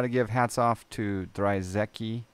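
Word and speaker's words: Drzewiecki: give hats off to dry Zeki I say dry Zeki some people pronounce it other ways but I got to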